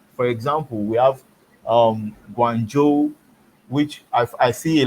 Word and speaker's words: Guangzhou: which is wrong for example we have um guangzhou which i've i see a lot of english speakers calling guangzhou you won't see um bbc broadcasters and even